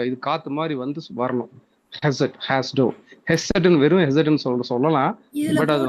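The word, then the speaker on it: חסד: ஹெசட் அப்படி ப்ரொனவுன்ஸ் பண்ணிக்கலாம்.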